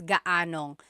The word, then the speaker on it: gaanong: And then just a pronunciation tip, if you happen to see gaano ang something, it's usually put together and it's gaanong. So gaanong katangkad ang anak mo?